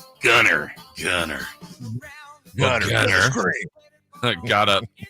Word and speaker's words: Gunnar: Dave, you went with Gunnar Henderson of the Baltimore Orioles. That's his name? Henderson. Yes, I believe it's pronounced Gunnar.